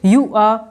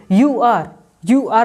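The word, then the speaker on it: you are: देखिए यू आर आपको नहीं कहना है, क्या बोलना है, यू आ, आर को पूरा प्रोनाउंस नहीं कीजिए, बस बोले यू आ।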